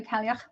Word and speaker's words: Cailleach: I've heard several pronunciations, but I've heard my own Irish granny say Cailleach, and I've heard Scottish folks saying Cailleach as well. There's been other pronunciations, but I'm going to trust my granny because, you know, she's Irish.